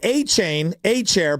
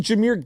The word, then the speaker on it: Jahmyr: We thought he said A-chair, but it's actually Jahmyr Gibbs, who he selected number 3 overall.